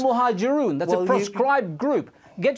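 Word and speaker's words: Al-Muhajiroun: It's Al-Muhajirun.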